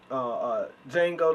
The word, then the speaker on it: Django: Django, you know, the people D talk- is silent, It's just so y'all awesome.